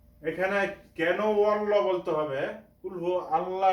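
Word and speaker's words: قُلْ: calf একটা আছে কফ কফ উচ্চারণ হবে কণ্ঠনালীর শুরু থেকে সেজন্য আমরা কিভাবে উচ্চারণ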